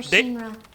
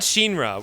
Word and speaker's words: Shinra: For Shinra, the success of the SMG project was crucial for their next step in she said Shinra, which is I feel like probably closer to the Japanese pronunciation.